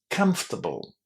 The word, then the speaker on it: comfortable: How did I pronounce these last four letters here? It wasn't able, was it? That's the problem that a lot of learners of English have. They see abl at the end of a word and they want to pronounce it as able because that's how you would normally say it if it was on its own. But not here. Here it's an unstressed ending. It receives no emphasis and because of that